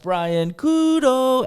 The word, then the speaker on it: Brian Couto: my name and and how it sounds different in English and in Portuguese so that I could just say, and remember guys, my name is pronounced Brian Kudo and then everybody in